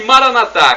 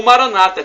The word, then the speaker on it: Maranatá: E Maranatá, como dizemos nós católicos, com a tônica na última sílaba, ou Maranata, como dizem nossos irmãos separados, os evangélicos ou protestantes, não importa a pronúncia, porque o significado é o mesmo.